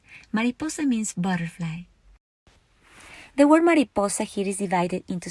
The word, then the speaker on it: mariposa: ma Li Paul Sam Mariposa follows rule number one because the naturalist rest of the world falls on the next to the last syllable the last syllable is sad and the next to the last level is poor I capitalized Paul so that you can see that's where the stress goes Mariposa ends with a